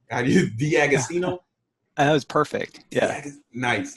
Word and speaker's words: D'Agostino: I always say and make your last name wrong D'Agostino that was perfect yeah nice nice I mean